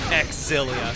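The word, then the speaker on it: Xillia: If we're going by canon pronunciations, X-Zilia sucks. If it was just Zilia, I'd be fine with it. But because you're canonically supposed to pronounce and emphasize the X, I think it sounds really bad.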